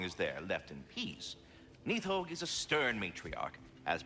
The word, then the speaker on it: Nidhogg: always just pronounced it Nidhogg. Nidhogg from here makes much more sense, with the letter D being like a TH sound in Norse.